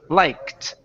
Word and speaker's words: liked: Instead of liked, it's a T sound now because the K is unvoiced. So this is liked.